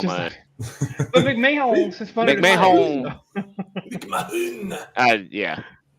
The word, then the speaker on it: McMahon: Mike Mahone. How do you say that? Mike McMahon. McMahon. Like Vince McMahon.